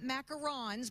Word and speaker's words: macarons: She brought macarons because that's the correct way to pronounce it.